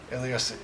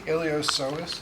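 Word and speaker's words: iliopsoas: pis with a p ilos the p is silent so it's the ilos you see right and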